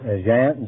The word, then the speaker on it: Jan: do you speak uh John John how do you pronounce that Jan Jan that's right that's my name what language do you